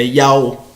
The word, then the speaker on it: IAU: a gente fala que o nome é Yao, né? É Yao, e elas querem trazer para Yahvé, Yehová, Hashem, Adonai, Eloheinu, e vai por aí afora, mas a pronúncia exata sempre foi e sempre será Yao.